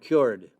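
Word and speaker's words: Kyoord: pencil the first one is called cured not spelled like cured but spelled k y o o r d it's called the governor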